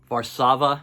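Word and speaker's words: Warszawa: side the ambian side varsava as they would call it it's how we pronounce it here I had to look it up online to see how you pronounce it here in America varsava the first track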